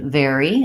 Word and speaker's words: vary: So these two words, very, like I'm very happy, and vary, like conditions vary, have the same pronunciation.